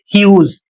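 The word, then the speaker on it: huge: इसे पढ़ेंगे ह्यूज और इसका अर्थ होता है विशाल।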